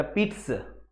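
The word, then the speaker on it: pizza: इसको आप प्रोनाउंसिएशन भी ध्यान रखा, पिट्स, पिट्स ऐसे बोला जाता है।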